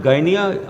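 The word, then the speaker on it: Gdynia: signed between polish shipping company in gyia they pronounce it gyia although the spelling is GD y n IIA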